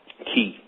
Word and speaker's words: chi: So today, what I really want to talk about is I want to talk about ki, which we term as the word chi, but the CH pronounces as a K.